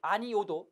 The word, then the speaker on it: 아니오: 아니오가 원칙이나 아니요로 발음하는 것도 가능하다는 얘기입니다. 그 다음에 이제 또 뭐가 있냐면 아니오 말고 아니요도 있습니다.